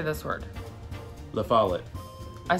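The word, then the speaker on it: La Follette: La follet.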